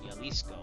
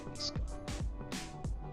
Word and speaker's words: Jalisco: This is Jalisco. I think I said it wrong too. It's Jalisco.